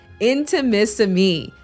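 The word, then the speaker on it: Intimissimi: and delicate lace but the name can be a little challenging to pronounce inter intimacy inter Mississippi I no it is intimacy me the art of Italian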